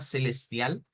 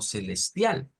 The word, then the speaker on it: celestial: lo menos en Brasil en Brasil No la vamos a pronunciar como celestial sino como Celestia o sea como cambiar esta e esta u esta L por una u aparece también esta otra